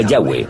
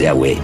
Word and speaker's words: Yahweh: y español son yhw pensamos que probablemente se pronunciaba yahwe o algo así pero yahwe solo aparece